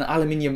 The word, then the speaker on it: aluminium: materials you've got an aluminium unibody design or aluminum unibody design depending on where you're from and how you want to pronounce it and it definitely has